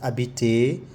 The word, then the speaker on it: habiter: So don't say ils ont, we hear Z here as ils ont, isolé, aimer, habiter, this H is silent, just habiter, adorer, chasser, casser.